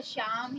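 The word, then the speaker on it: psalm: P silent होता है, यानी कि कभी भी आप निमोनिया लिखें या शाम या साइकोलॉजी कभी भी पढ़ें तो हमेशा पी को ना पढ़ें। तो ये 3 ऐसी वर्ड मीनिंग है जहां पर आपको पी को नहीं पढ़ना है।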